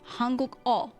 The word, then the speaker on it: 한국어: Hanguk-o. O literally just means like language. Ono is a language. So Hanguk-o is the language of Korean. So you say Hanguk-o is your subject, and you say 못해요.